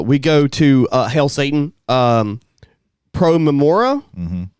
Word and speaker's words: Pro Memoria: Pro Memora. Mm-hmm. Is that how it's pronounced? I've always said Pro Memoria. Pro Memoria, Pro for the Memoria. sake of memory Yeah. in Latin.